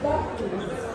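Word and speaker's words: Buc-ee's: And Cooper, remember, it's Bucky's. Yes, don't give it a soft C.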